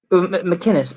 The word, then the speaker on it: McInnes: Like Ben Chappelle and him are really good um McInness or McKenna. What? Whatever the hell, how do you pronounce his name? McKinnis.